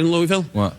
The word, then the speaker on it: Louisville: to say it properly you don't say it Louisville you say no you know what you say Ludo dear dragon